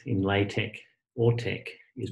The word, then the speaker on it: LaTeX: X inlay tech or tech is pronounced as a hard cut as in tech it is not a soft X sound if you ain't pronounce